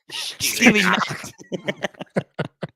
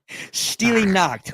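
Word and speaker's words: Stille Nacht: we have White Christmas versus, how do I pronounce that again, Aric? I'm not Steely a Nacht. Steely Nacht. Steely Nacht or Silent Night, if you will.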